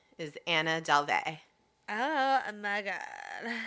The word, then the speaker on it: Anna Delvey: Her name is Anna Delvey. Oh my God. I'm pronouncing it like Lana Del Rey or Marina Del Rey. Like a la the Californians.